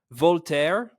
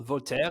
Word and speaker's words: Voltaire: see who can mention Voltaire. I'm pronouncing it the English, the American way, or Voltaire in French, Camus, and or Descartes first.